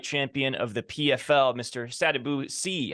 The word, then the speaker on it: Sadibou Sy: Sadibou Sy. How are you, sir? Did I pronounce that correctly before we start? Yes, sir, you did.